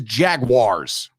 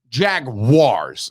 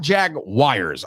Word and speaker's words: Jaguars: tweeting whatever you're doing with this podcast the pronunciation is jaguars jaguars not jag wires i heard it today on a podcast actually